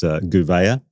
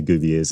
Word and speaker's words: Gouveia: The hardest one for us was Gouveia. But the way it's sort of written is Gouvier. And we heard a few Gouviers in the year a little bit, but we got it right.